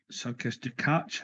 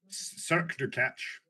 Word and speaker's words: Cirque du Catch: You went up against Circus du Catch. Is that how you say it? Cirque du Catch.